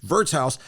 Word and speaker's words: Wirtshaus: It's spelled the W, pronounced like a V. Wirtshaus.